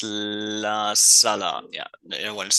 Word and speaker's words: La Sala: What's So my number two is just want to make sure I pronounce it correctly. It's La Sala.